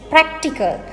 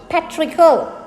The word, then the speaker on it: practical: And it is practical, not patrical.